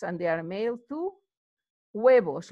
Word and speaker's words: huevos: Huevos, remember H, you don't pronounce huevos.